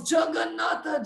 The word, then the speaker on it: Jagannatha: is not able to pronounce Jagannatha, Jagannatha. It's 4 syllables.